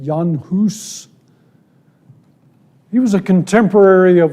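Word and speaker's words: Jan Hus: John hus of Prague I guess they pronounce it yanus he was a contemporary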